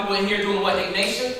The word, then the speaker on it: Ignatia: Ignatia, right? which is what? It helps with breathing. What is that? What is it? How you say it? Ignitia. There it is. He had to correct me. Ignitia.